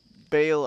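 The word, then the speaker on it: Baal: Bale. I see. Yes. Okay. It is pronounced Bal originally, which is also different from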